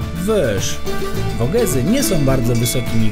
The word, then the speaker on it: Vosges: Francuską nazwę pasma pisze się Vosges, ale żeby nie było za łatwo, wymawia się ją Vosges.